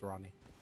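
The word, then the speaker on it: Ranni: name was actually ronnie okay it's spelled a randy but yeah she says that ronnie so i'm not gonna argue with the character how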